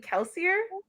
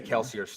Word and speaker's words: Kelsier: I would say Kelsier's 2 syllables for the purposes of this because it fits. Kelsier. Kelsier. Yeah, I would count as a diphthong.